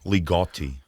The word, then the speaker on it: Ligotti: Ligotti.